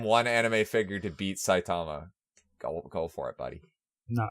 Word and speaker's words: Saitama: Yeah, Saitama? that's it. Sammy Sosa. Close enough. Pussy. Okay, We'll save that for later. Exhibition. If you can name one anime figure to beat Saitama, go for it, buddy.